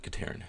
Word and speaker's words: Ketarin: And I hope I'm not murdering the name, but I pronounce it Ketarin, and that's not how it's spelled.